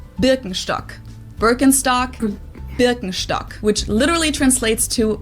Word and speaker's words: Birkenstock: the world nowadays and it's natural that people pronounce it with their native accent so English speakers usually say burkenstock in German we say bstock Birkenstock bstock which literally translates to Birch stick the